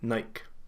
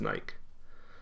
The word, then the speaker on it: Nike: the brand nike right i know a lot of people that pronounce it as nike but they're likely unaware this is a reference to the goddess of victory and it should be pronounced more closer to a nike in canada i would